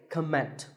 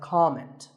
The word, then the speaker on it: comment: heard many speakers say comment now whether you use this word as a noun or as a verb the first syllable is always calm so it's never a comment it's a comment word number 11 is interesting